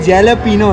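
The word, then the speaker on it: jalapeño: ये देखें, ये जैलापीनो है, जैलापीनो मतलब जे साइलेंट क्यों करते, खाते हुए सबवे जो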